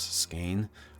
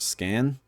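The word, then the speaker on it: Skaen: these gods' names, and it said S-K-A-Y-N as how to pronounce Skane, but this person, the narrator, just pronounced it Scan.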